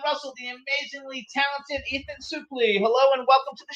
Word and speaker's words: Suplee: What is that? English or French? French. I pronounce it Suplee. Suplee. Yeah. Suplee. And the French do a really weird version. I think they say Supplice. So I would say in French it should be Suplee. Suplee.